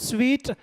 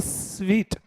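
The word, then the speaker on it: suite: c this is called sweet means not eating sweet the pronunciation is sweet yes generally you can find this in hotels five-star hotels vip suit pronunciation vip sweet so o-r-s-s-u-i-t-o-r do you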